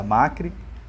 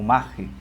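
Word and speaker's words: Machry: muito especial a Andressa Magri ou macri né Essas duas pronúncias que é o sobrenome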